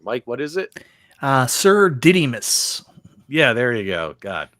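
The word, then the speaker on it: Sir Didymus: say his name Mike what is it uh sir didus yeah there you go God um you got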